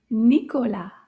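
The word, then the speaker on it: Nicolas: amanda is a name nicola has a silent s and that's also a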